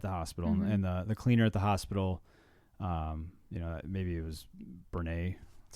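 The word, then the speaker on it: Brené: the cleaner at the hospital, maybe it was Brene. That's how you say her name? Brene, yeah.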